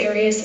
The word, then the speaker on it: Arias: Um your name has been pronounced or most of this trial. Aras, is there another way of pronouncing it? You always pronounce it Aras. I've heard it pronounced about seven different ways. Um I say Aras as does the rest of my family.